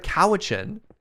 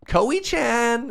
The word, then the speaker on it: Cowichan: Instead of Cowichan, it was Koei-chan.